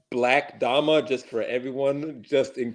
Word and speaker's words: 6LACKDAMA: then you can follow me on Twitter it's pronounced black dhama just for everyone just in case because you know I had that come up do you pronounce it black dumb or you pronounce it sixl yeah I'm like